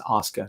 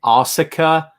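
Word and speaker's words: Asuka: gonna be Oscar and by the way it's Oscar Nausicaa okay anyone out there is pronouncing all cyka stop I know it's how it's spelled I get it school is spelled shul we don't call it shul okay stop it's Oscar all right live with it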